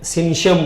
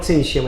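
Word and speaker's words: syncytium: मल्टीमेन nucleus होते हैं सी एन सी वाई टी आई यू एम ऐसे स्पेलिंग है। ये सिंस आइटियम लगता है। बोलते हैं लोग सिंसियम ऐसे प्रोनाउंस करते हैं ऐसे।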